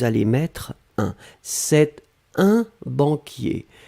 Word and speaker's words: banquier: pré position d'une profession par non et c'était banquiers alors banquiers donc que l'on doit mettre finalement